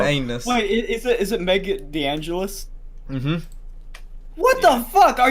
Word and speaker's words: DeAngelis: So, you know, and one of the first people to sign up was some girl I've never heard of called Meg Delanus.